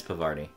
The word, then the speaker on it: Parvati: Yeah, it's Parvati.